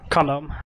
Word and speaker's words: CMD: Lego they're gonna have CMD do we pronounce that condom or CMD over here condom condom on medic dr.